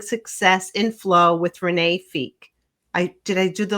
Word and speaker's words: Fieck: burnout and building success in flow with Renee Fe. I did I do the last name right? It's fake but it's good.